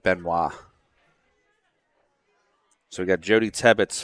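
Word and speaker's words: Benoit: scores around the tournament benight is b n o i t right yep should pronounce as it Beno so we got Jody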